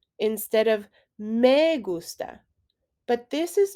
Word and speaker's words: me gusta: make sure to be careful with how you're pronouncing the indirect object pronoun mei many native english speakers will say me gusta instead of me gusta but this is not correct m e in